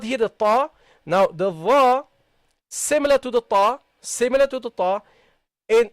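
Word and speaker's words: ذ: Not dha, not like this. No. Dha, dha. Okay? Slightly. Dha, dha, ta, dha. Okay? Slightly between your teeth. Okay? Not too much.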